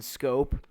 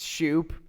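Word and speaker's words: Schoop: Jimmy used to say there was this one guy whose name was Jonathan scope but it actually is pronounced Shoop there it should be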